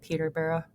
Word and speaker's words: Peterborough: Peter Bar.